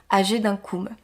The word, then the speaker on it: Agedincum: c est pour nous ça a donné ag d'inkoom puisque en latin c'est mme qu'on doit prononcer quand je dis âgées d'un comme je prononce à la française par la suite la